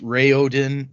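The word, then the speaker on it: Raoden: So, uh, I'm going to say Raen cuz that's how I say it in my head and even though technically it's Ray Odin and Rathen.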